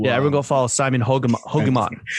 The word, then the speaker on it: Hogeman: Yeah, everyone go follow Simon Hogeman. The Air Yeezy too. Rhymes with Pokemon.